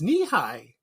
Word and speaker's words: Nehi: And it's Nehi, and it's spelled N-E-H-I.